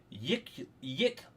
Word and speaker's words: Yklwa: Oh, it's got a pronunciation. Yikulwa.